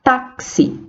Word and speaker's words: táxi: de c&s por exemplo da palavra taxi temos quatro letras e 5 fonemas porque a letra x representa esse som de cs né táxi igualmente temos maximizar 9